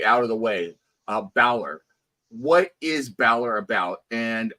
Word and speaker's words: Balor: have been a bad start did did I pronounce it right is it Bor so it's Balor H Bor okay yeah don't worry you're not